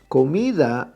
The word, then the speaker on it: comida: quarter to last and we pronounce that word called me de comida is the me is the stressed syllable second-to-last why not right down the